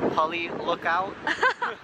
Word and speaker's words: Pali Lookout: How do you pronounce where we are? It's called Pali Lookout.